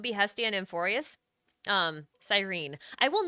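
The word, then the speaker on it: Cyrene: does not sound nice I'm not going to call her sirene I'm gonna call her sirene I will not pronounce that last e can't make me H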